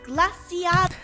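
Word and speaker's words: Glaseado: First of all, it's pronounced Glaciado.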